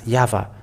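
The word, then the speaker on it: יהוה: is read in Hebrew the Y hey V hey is pronounced as yava even if this is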